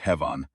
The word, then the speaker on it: Hevan: of cautious phonetic mapping, compressed into something like Hevan, 2 syllables, accent on the first, and she used that.